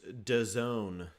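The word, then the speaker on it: DAZN: sergio oliveira mckenny crown it's this d-a-z-n pronounced da zone as they say yeah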